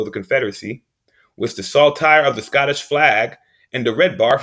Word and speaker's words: saltire: the the scottish flag saltier saltire excuse me from saying it wrong also called saint andrew's